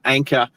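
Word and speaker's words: Anker: I took it back, got my money back, and I was able to get that anchor. So, Anchor is spelled A N K E R.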